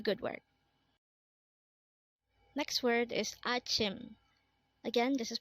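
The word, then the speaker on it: 아침: Next word is Achim. Again, this is pronounced as Achim, and this is the Korean term for morning. Again, Achim is morning.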